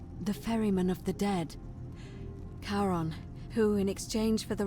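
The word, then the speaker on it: Charon: name you heard wasn't Karen it was c h a r o n as in karon the fman of the Dead karon who in exchange for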